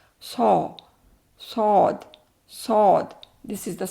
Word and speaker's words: ص: So, we say sod saw and this is saw and this is here. You can very easily understand about this. What is it? This is the these are the lower teeth. This is the upper one.